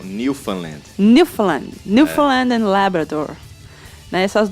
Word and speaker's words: Newfoundland: Newfoundland. Como é que você falou que eles falam? Não, eles não falam found, né? Eles falam Newfoundland.